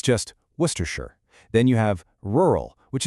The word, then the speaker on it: Worcestershire: Then there's Worcestershire, which is a masterclass in just ignoring letters. It's just Worcestershire.